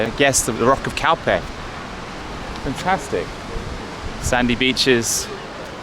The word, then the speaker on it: Calpe: i'm saying completely wrong c-a-l-p-e calpe or calp i think it's calpe scalp there you go